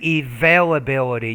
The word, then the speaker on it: availability: of resources then say availability you need to pronounce the v availability of resources now i'm not sure